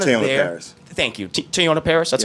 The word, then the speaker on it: Teyonah Parris: Thank you, Teyonah Parris.